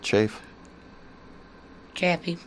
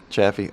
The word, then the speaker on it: Chaffee: it with their best offer Roger how you pronounce that is it chief champion Chaffee oh yeah Roger Chaffee okay NASA Apollo one